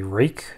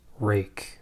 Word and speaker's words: Ruike: Impressions review of a rake tool and yes you pronounce it rake I know I can read also I know it's not spelled that way we all just have